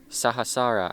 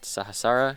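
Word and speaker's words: Sahasrara: is the crown chakra sahasara I'm pretty sure is how you say it sahasara chakra I think but this is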